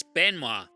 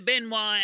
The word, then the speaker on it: Benoit: of professional wrestler Chris Benoit it's pronounced like that because he's French it sounds like the